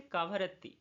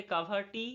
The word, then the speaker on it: কাভারত্তি: লাক্ষাদ্বীপের রাজধানী হয়ে যাচ্ছে কাভারত্তি কাভার রত্তি অনেকে বলে কাভারটি অনেকে বলে কাভারতি অনেকে বলে কাভারত্তি যেটা যে প্রোনাউন্স করে তো লক্ষদ্বীপ লাক্সদ্বীপ আমাদের